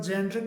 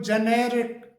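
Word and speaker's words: generic: जी इ एन ई आर आई सी इसे ज्यादातर जेर्रिक नाम से जाना जाता है कि भाई ये जेरिक दवाइयां है जेरिक चीजें हैं। लेकिन इसकी सही इसका जो सही प्रोनाउंसिएशन होता है वो जेनेरिक जेनेरिक जेनेरिक करके होता है।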